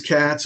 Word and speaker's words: Katz: I'm fantastic, and it is Katz. It's not like Kotz or something, some other. No, it is Katz, only spelled with a K and a Z, not a C and an S.